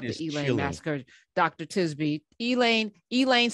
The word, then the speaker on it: Elaine: never heard of the elay massacre so tell us about the elaine massacre dr tisby elaine elaine spelled like a person's name that's right you know